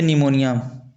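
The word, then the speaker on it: pneumonia: जैसे निमोनिया इसका स्पेलिंग इस प्रकार से होता है किंतु पढ़ा इस प्रकार से जाता है।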